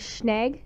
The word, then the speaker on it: schnag: The word is schnag. It's pronounced schnag, and it's spelled schnag.